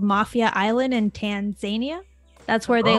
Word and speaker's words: Tanzania: And is it it's Tanzania? I am questioning the way I'm pronouncing everything. Tanzania. Everyone, there you go.